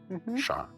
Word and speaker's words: Sharmil: Charl.